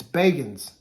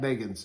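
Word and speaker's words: Bagans: we're gonna do more than just unbaggings it's bacons let me go back and correct i'm not gonna re-record it his name's zach beggins it helped that i call them that people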